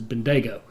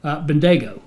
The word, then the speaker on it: Bendigo: it's civilized cam told me this should be pronounced as Bendigo says as fast as I can which realize with my accent that's not very fast but Bendigo so we're in Bendigo it sounds like a